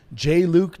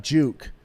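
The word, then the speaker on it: JLuke: It's J. Luke, not Juke.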